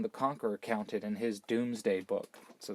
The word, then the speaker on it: Domesday: that it's called the Doomsday Book now it's spelled Domesday but remember that was in Old English it's pronounced doomsday book and it was kind